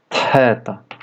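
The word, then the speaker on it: θ: Próxima letra é o teta. Tem som de t mais aspiração. Aspiração quer dizer o som do H do inglês como happy.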